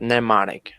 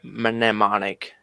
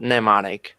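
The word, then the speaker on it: mnemonic: actually this word pneumonic the first m is not pronounced just like that neonic not memonic but neonic clear okay and the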